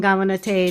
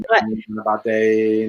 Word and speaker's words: Ganapataye: It's Om Gam Gamanate Namaha. I screwed up this. Om Gam Ganapataye Namaha.